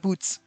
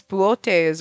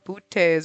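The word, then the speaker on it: Boötes: got a fancy pronunciation it's not boots it's boes or bootes or something like that there's like an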